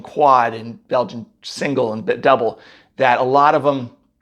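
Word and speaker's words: Dubbel: the double came out first d-u-bbel and it's pronounced that way double it looks some people want to call it dubel or uh triple it's pronounced triple it's not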